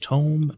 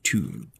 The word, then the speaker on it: tome: It is pronounced tome, not tomb. Dum-dum.